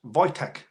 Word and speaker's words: Wojtek: The Polish had a bird in the army called, pronounced Wojtek.